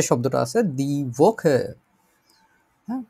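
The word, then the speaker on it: die Woche: বুঝতে পারছি, দি ভোকে মানে সপ্তাহ। তো সপ্তাহের আগে ডিয়ার ডিডাস কোনটা আছে আমাদের, দি ভোকে।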